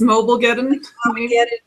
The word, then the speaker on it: Mobilegeddon: Mobilegeddon? Geddon. Well, instead of Armageddon, it's Mobilegeddon. Yeah.